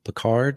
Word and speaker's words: Pickard: make sure I get your name correct Bard is that how you pronounced the last name yes sir all right